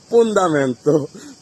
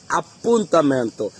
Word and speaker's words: appuntamento: পুন্দামেন্ত পুন্দামেন্ত বলি। আসলে এটা কিন্তু সঠিক উচ্চারণ না।